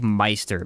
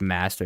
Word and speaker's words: Meister: master thing it's like m a i s t e r it's like Meister it's not it's Master it's just dumb why not just say it correctly I don't know it's